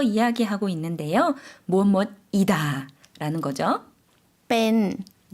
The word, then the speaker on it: เป็น: เป็น 좀 짧게 발음해 주시면 되겠습니다. 뺀이라고 천천히 지금 발음해 주셨는데요.